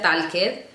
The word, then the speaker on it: talked: ella por decir así se deletrea tal tal Y no se pronuncia talked Y esa de que está ahí se pronuncia como una T O sea yo sé